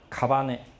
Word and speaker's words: 姓: 忌，好，那姓呢，它读成卡巴内，啊，其